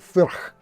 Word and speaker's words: Furch: I've been trying to figure out whether it's pronounced Furch or Furch, but apparently it's like Thurs.